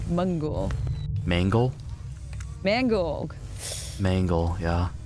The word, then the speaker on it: Mangle: Mangle, yeah. Mangle, because that's really hard for me to pronounce. Because it sounds like a mango when I say that.